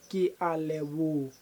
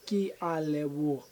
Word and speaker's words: ke a leboga: So, it's not ka, it's a ra. At the end, ke a leboga. Ra. Not ke a leboga. Ka.